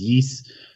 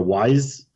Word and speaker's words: Ys: As far as like I said, I've heard people pronounce it as yes. I've heard people pronounce it as yeast or wise.